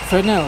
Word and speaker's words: Fresnel: use to melt it fresnel is spelled FBR s n e l the S is silent there's lots of other